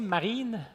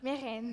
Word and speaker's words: Mehreen: Est-ce que j'ai bien prononcé Marine? Mérène. Mérène.